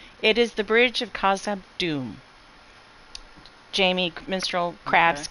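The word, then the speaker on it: Khazad-dûm: Yes, it is the Bridge of Khazad Dûm.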